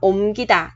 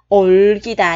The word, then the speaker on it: 옮기다: À, nên trong trường hợp này mình đọc là omgita chứ không đọc là olgita nha các bạn.